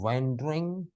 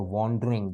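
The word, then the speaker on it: wandering: और stories bye वैंडरिंग, और वॉन्डरिंग दोनों प्रोनाउंसिएशन सही है, मिन्स्ट्रल्स।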